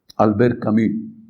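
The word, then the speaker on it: Albert Camus: Alber Camí se escribe camus.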